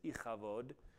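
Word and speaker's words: Ichabod: she names her son ikabod which as I pronounce is ikabod and is the word for weight or Glory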